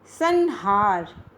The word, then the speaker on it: संहार: इसमें न का उच्चारण हो रहा है इसमें। संहार, संहार, संहार, संहार, संहार जो है आपका संहार है। इसमें किसकी तरह आ रहा है? क वर्ग के पंचम वर्ण की तरह आ रहा है।